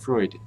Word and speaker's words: Freud: I know many German words ending in D actually end in a T sound, like Freud.